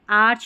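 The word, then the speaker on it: arch: अब इसको आर्क नहीं पढ़ेंगे। ठीक है? आर्क नहीं पढ़ेंगे। आर्च पढ़ेंगे।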